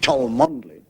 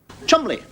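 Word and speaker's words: Cholmondeley: I mean this you get a name like ch mandley not pronounced CH mondly Chumley so I suppose when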